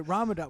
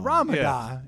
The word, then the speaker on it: Ramada: Yeah, but so as a kid I always called it Ramadan. Well, my Yeah. family always made fun of me, so they just embraced the Ramadan instead of Ramada.